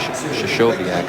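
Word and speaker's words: Krystkowiak: Well, people pronounce that name a lot of different ways. Shashoviak, I think, is the correct way.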